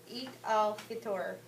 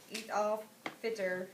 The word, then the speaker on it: Eid al-Fitr: Okay, before we start, I think it's pronounced Eid al-Fitr, or Fitr.